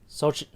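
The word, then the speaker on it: Xochitl: really yeah sochi gomez the x is a s essentially but what about the t and the l it's silent i guess yeah thank you now i know how to say it soji gomez she was her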